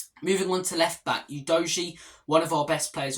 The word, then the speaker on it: Udogie: Udogie, that's how the commentators pronounce him. I'm going to keep calling him Udogie because I believe that's the way you were meant to.